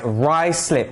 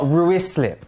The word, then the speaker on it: Ruislip: westminster why slip please guys rye slip not ruislip okay let's go best place